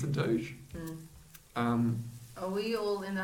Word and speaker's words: doge: Is it Doge? It's Doge. I don't like Doji.